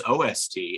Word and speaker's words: OST: So are you team oost or team ost? Team ost is how we refer to it in DC. So that's interesting that we have a regional difference here. We do. And do people pronounce it ost, or do they just tend to say OST? I think we just say OST.